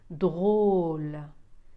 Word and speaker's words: drôle: Drôle. إذا هنا j'appuie sur le O.